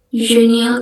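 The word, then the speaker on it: génial: Bacanya jeune. Dan yang terakhir ini genial. Genial itu artinya kayak excellent, kayak great, gitu kayak keren.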